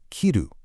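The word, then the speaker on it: 着る: So, the absolutely crucial point here is correctly pairing fuku, the noun for clothes, with kiru, the action of putting them on. Notice the crisp pronunciation of the action, kiru.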